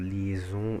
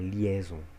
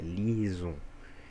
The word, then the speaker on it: liaison: Então, por isso que eu falo liaison e não liaison. É liaison.